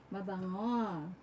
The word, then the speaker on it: mabango: Like they don't have the tone of like ngo. It's hard for them to pronounce it. It's like they can only pronounce it like go, like that's why they